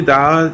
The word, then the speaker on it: the: তাহলে ভাওয়েলের পূর্বে দি থাকলে আমরা বলবো দি, আর কনসোনেন্টের পূর্বে দি থাকলে আমরা বলবো দা।